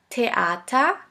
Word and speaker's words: Theater: Now the last letter combination, TH, TH, which is simply pronounced like a T. Here we have the example of the word Theater, Theater, which means theater.